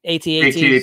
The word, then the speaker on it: AT-AT: It's at rhymes with bat. Some people say at. I say AT-AT.